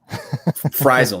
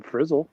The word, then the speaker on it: Frisle: I got to say, I'm impressed you just were able to say it correctly. Frisle. Nobody gets that right. Really? So kudos to you, Bill. Well done. Maybe change the I to a Y. Would that really help? Then people would go, I bet they would go Frisle. It's closer than Frizzle, right? You got it. See, you can't even say it right.